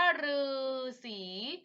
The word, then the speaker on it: ฤาษี: ที่ คำ นี้ อ่ะ อีก คำนึง ฤาษี อ่าน ว่า พืช สอง ที่ อ่าน ว่า ฤาษี คำ นี้ ออก เสียง ว่า รือ เลิก สุด ท้าย อ่าน